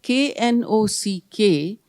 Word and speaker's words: knock: clear he said when k n o c k the first K is not pronounced it's knock why don't we just write no K and if the K